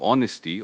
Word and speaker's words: honesty: And emotionally intelligent people understand the impact of honesty, or lack thereof, on others' feelings and trust. It's about empathy for how your words affect someone. For spelling honesty, Honesty. Just remember that silent H at the beginning and the common ending